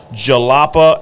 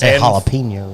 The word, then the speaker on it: Jalapa: and through and through a jalapeno no it's your it's jalapa I think it's how you pronounce it j-a-l-a-p-a oh that's close when you held